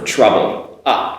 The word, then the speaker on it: trouble: So, now trouble, sound, not as strong as a hot, sound, but a. So, for trouble, trouble.